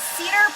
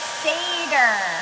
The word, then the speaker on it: Seder: Oh, cedar plate. Okay. Pronounced seder.